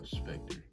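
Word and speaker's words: SPCTR: it's called spectre it's spelled s-p-c-t-r but it's pronounced uh specter and so right now as of today we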